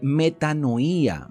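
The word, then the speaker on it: μετάνοια: Por cierto, que esta palabra arrepentimiento, que se utiliza mucho en el Nuevo Testamento, es extraída de una palabra griega que se pronuncia eh metanoía.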